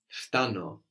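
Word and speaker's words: φτάνω: or I'm arriving is Fano Fano Fano I really like this word it's fun to have the F and the T together now it's odd to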